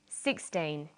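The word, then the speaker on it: sixteen: Usually the first syllable in a number is stressed. 16, 60. Notice that it's the final N in teen that you have to be careful with.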